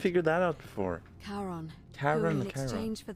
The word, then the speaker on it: Charon: The name you heard wasn't Karen. It was C-H-A-R-O-N, Charon. It is the Styx River. as in Oh, of course. How did we not figure that out before? Charon, Charon, who in exchange